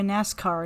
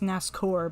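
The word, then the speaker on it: Nascour: not going to the coliseum there's our boy nascar again and i know i know it's pronounced nascor but i'm calling it nascar because that's what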